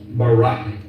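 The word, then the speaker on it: ברק: brightness or a glittering the Hebrew word is Barak so lightning or a flash of light in Hebrew is pronounced Barack or Ro now consider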